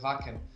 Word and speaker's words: Wacken: Yes, Germans call it Wacken. And Wacken, right?